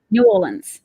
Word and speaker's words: New Orleans: I've got to get my pronunciation right. Can you say it again for me? New Orleans.